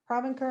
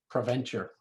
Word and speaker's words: Provencher: then back to uh mr provencar am i saying your name right adventure say it again provencher venture sorry accidental syllable no problem yeah